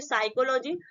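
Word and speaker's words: psychology: पी आया है तो इसको हम क्या बोलेंगे साइकोलॉजी उसके बाद देखिए जो की अंबा में पाया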